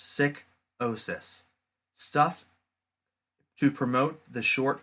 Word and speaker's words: Sikosis: geek and the menace, who is well known as Morbid Sikosis, pronounced Sick-osis.